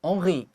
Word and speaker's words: Henri: Yeah，又到了我们好书俱乐部的单元喽。今天我要跟各位介绍的好书呢，叫做《退稿图书馆》，英文呢叫做《The Mystery of Henri Pick》。好，这个 Henry 你可能会看到这个拼法有点不太一样，对不对？好，这个地方它做的是 I 结尾。事实上呢，这个 Henri Pick 他其实是一个法国人。那法文的话要念成 Henri Pick。好，他会念成这样，所以他在讲到这个亨利先生的秘密。